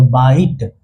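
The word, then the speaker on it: bite: लेकिन अगर उसके बगल में इ आ जाए तो आई अपना असली रूप दिखाएगा। बी का उच्चारण ब से। आई का उच्चारण इ से होता है। लेकिन जादूगर इ आ चुका है। इसीलिए उसको बोलेगा कि असली रूप दिखाओ। तो आई का उच्चारण आई से ही होगा। यानी कि बा ई और टी का ट। तो बाइट।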